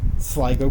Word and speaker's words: Sligo: that there was a description that referenced sgo Sligo County and this is the correct pronunciation we've asked many people is it SLO I asked her and I said I think it's Sligo and he's like well it could be Sligo